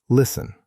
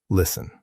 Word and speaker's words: listen: The word listen. There's a T in the middle, but it's silent. We say listen, listen.